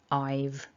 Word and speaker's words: I've: So we lose the breathy h and we lose that a vowel. So we're left with I and then that little v at the end that we just tag on to create this one syllable I've.